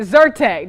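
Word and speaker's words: Zyrtec: how to say it zertek that's how you say it could offer some relief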